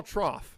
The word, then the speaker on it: trough: don't think so get how do you spell trough I know you spell it with like a GH or whatever yeah you do but you pronounce it like an F you said f though